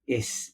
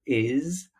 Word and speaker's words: is: the wrong Sounds here so we have um is instead of is with a z sound okay and um apart